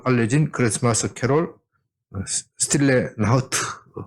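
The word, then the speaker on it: Stille Nacht: 프랑스와 영국에서도 잘 알려진 크리스마스 캐롤 스틸레 나우트. 발음이 맞습니까? 네, 스틸레 나우트. 독일에서 박사하신 분이 맞다고 합니다.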